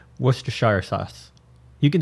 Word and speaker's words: Worcestershire: kind of funny Shire it's actually pronounced Worcestershire it's like Leicester Leicester no I can